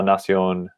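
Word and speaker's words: nación: song la nacion nation very common ending of words in spanish and they um should all make almost always if not always have an accent mark over the o to kind of pull the stress in that direction okay david um let's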